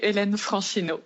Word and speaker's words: Hélène Franchineau: I'm talking to Hélène Franchineau. I'm probably mispronouncing that. Is that, how do I say it? It would be Hélène Franchineau, but it's fine. Okay, well, I'm talking to Hélène Franchineau.